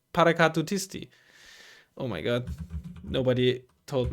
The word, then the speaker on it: Paracadutisti: No, Paracadutisti. Paracadutisti. Oh no, I always had like one syllable too much whenever I. Paracadutisti is always what I said, I think. But it's Paracadutisti.